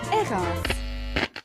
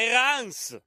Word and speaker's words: Hérens: evolen canton valet district Erin Erin pas Erin mais je croyais qu'en valet le S final se prononcé comme à Molin Molin c'est de l'autre